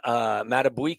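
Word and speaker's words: Madubuike: Hunter, Max Crosby, Myles Garrett, Micah Parsons, Justin Matabuike, did I pronounce that correctly?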